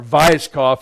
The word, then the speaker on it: Weishaupt: And it was started by Adam Weishaupt, right? Or Weishaupt, if you pronounce it right.